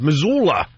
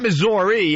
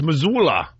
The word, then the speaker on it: Missoula: Missoula. Not Missouri. It's Missoula. He's in Missoula.